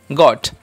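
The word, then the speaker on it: got: নেই তার জন্য এখানে হবে গ এর মত উচ্চারণ তাহলে হবে গ নট জট নয় এটা হবে গট কেন অ হলো আমরা জানি ও এখানে একা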